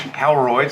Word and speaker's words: Holroyd: Extremely lucky to have Paul Holroyd, the coach, Holroyd, say it right, of the Murrumbeena Football Club.